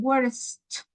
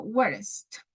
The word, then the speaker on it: worst: have B worse and worst remember to make this sound the T sound at the end so worst imagine that you had